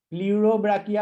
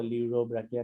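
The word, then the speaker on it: Pleurobrachia: प्ल्यूरोब्राकिया होता है वो, ल्यूरोब्राकिया नहीं होता है। सर वही तो बोले ल्यूडोब्राकिया। हाँ तो प्ल्यूरोब्राकिया ना, पी बोलना सर पड़ेगा उसमें।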